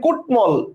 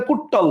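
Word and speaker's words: কুট্মল: বাঙময় না বাঙময় অর্থাৎ ম এর স্পষ্ট উচ্চারণ হচ্ছে এরপর দেখেন কুটমল ট এর সাথে ম বসতেছে এবং ট এর মানে ম এর স্পষ্ট উচ্চারণ হচ্ছে আমি কিন্তু বলি না কুটল বলতেছে কুটমল সো তাহলে আমাদের প্রশ্নটা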